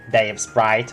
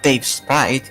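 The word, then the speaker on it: Davesprite: No, I mean, why do you always say it like that with the space between words? It's not Dave Sprite. It's just Dave Sprite.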